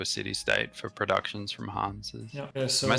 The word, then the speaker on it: Hanse: Hansa. Hansa. Yeah, like that's probably the closest. Because in English it's actually Hansa with an A in the end, but it's in German it's Hanse with an E in the end.